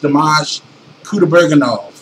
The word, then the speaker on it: Dimash Kudaibergen: So, his name is pronounced Dimash Kudaibergen. If you were to be speaking it in English, you know, with a Russian accent, Kudaibergen.